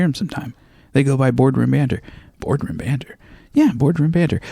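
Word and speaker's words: Bored Room Banter: They go by Boardroom Banter. Boardroom Banter. Yeah, Boardroom Banter. But it's spelled B-O-R-E-D. Like they're fucking bored.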